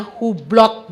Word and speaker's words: Hublot: jam tangan mewah merek hublo ya yang ngerti-ngerti enggak ngerti ya wis ya mereknya Hublot ya itu bacanya hublo Harganya 4 miliar Wah